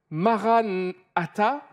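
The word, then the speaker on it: Marana tha: dire deux choses différentes si tu dis Maran ATA ça veut dire notre Seigneur est venu il est déjà venu et c'est une réalité biblique mais si tu le le prononces d'une autre manière en disant Marana ta c'est cette phrase qui dit viens Seigneur Jésus avec un gros point d'exclamation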